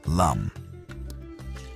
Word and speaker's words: Lam: The Sanskrit seed mantra here is Lam, pronounced Lum.